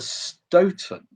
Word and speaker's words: Stoughton: super old so um I know from back in the midst of time that Mr Stoughton pronounced it like that you know 40 years